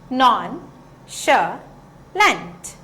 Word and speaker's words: nonchalant: बहुत जगह पर इस शब्द को हम नॉनशलांट भी कहते हैं, नॉनशलांट भी कहते हैं, लेकिन इंडिया में इसका प्रोनाउंसिएशन जनरली नॉनशलांट होता है। तो अगर आप इन तीनों में से कोई भी प्रोनाउंसिएशन सुने तो आप घबराइएगा मत, तीनों प्रोनाउंसिएशन इसी शब्द को रेफर करते हैं।